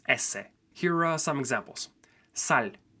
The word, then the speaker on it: ese: has a different name in English it's s but in Spanish it's ESS here are some examples